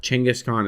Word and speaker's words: Genghis Khan: __ ] comes down Genghis Khan what no chinguscon also you can't call him that chingiscon is how it's pronounced that sounds like a